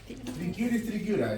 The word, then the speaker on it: Trichuris trichiura: Bien, chicos, vamos a pasar al otro nematodo, que es el ¿cómo se pronuncia esto? Trichuris trichiura, ya esa es la pronunciación del parásito.